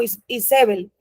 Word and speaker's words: Jezabel: unos años más tardes Jezabel según los hebreos le decían no tiene ni ni significado porque son hombres paganos Pero ellos lo pronunciaban como isbel con lo que les